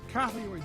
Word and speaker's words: carotid: Carotid disease, is that right? Did I pronounce it right?